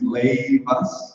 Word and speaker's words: Leivas: So the way we pronounce our company is Leivas, like laid back, and you Leivas.